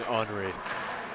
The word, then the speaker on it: Henri: He wants it the French way. His dad'll be happy that way. Yes, that's true. Always got to appreciate saying Henri.